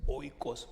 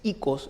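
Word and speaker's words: οἶκος: ha traído, se escribe, alguna gente lo dice oikos, pero es ikos en el griego, quiere decir casa.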